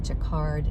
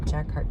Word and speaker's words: jacquard: like a i don't even know how to pronounce it jacquard jacquard g j a q u a r d